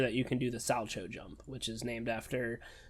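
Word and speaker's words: Salchow: You need to make sure that you can do the Salcho jump, which is named after Ulrich Salcho in 1909. I think it's Salco. Salco, that's it. Damn, at least that's English. How they pronounce it in the anime.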